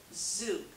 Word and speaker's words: zhug: to be really quick and easy it's called Zoop I spell it z h ug you can spell it